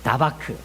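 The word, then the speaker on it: דָּבַק: 이 붙쫓았다, 이 발음이 계속 안 나오는데, 이거는 원어로 다바크라는 말이에요. 다바크.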